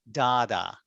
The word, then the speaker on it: data: American pronounce Data as Dada. Dada. Have you heard Dada? I think in Australia they say Dada too.